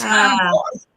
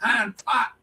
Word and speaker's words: hind parts: It's hind parts, but the way he pronounced was hind pot, P-O-T.